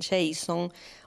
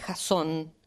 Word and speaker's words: Jasón: Ah, bueno, eso es una muy buena pregunta, porque muchas personas le dicen Jason, muchas otras Jasón, y en realidad es Jasón, así es en griego,